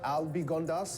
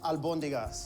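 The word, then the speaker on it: albóndigas: Uh, Albigondas. Is that how I how you pronounce it? Close. Albondigas.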